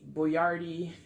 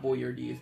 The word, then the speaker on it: Boyardee: chef boy boy boy boy ard well that's how you really say his name it's not boy your deeds boy rd I believe